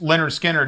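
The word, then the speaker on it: Lynyrd Skynyrd: And pronounced Leonard Skinnerd is one of the best albums on the planet.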